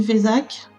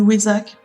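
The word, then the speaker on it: Vesak: Et elle est également appelée la lune du Vésak, ou du Wesak, chacun le prononce comme il veut.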